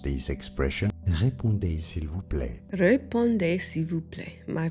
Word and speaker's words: Répondez s'il vous plaît: Yeah, répondez s'il vous plaît. Respond if you please. And that's where people get the RSVP. Let's look at how to pronounce this expression. Répondez s'il vous plaît.